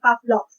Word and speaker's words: Pavlov: one is ivan pavlov so it's spelled as pavlov but then uh according to my psychology professor it's supposed to be read as ivan pavlov so let's have a